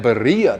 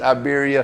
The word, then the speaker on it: birria: He said, man, you should have got that birria taco. And I said, wait a minute, what say it again? Birria. And I said, oh Lord, we done mispronounced Iberia.